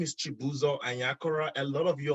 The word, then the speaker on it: Chibuzo: My name is Chibuzo Anyakora. A lot of you all know me as, and that's fine. The pronunciation is Chibuzo.